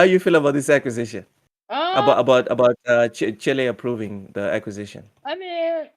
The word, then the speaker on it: Chile: or with the canals with the correct uh pronunciation Chile uh approves the Microsoft Activision Blizzard acquisition not child all right it's Chile or Chile one of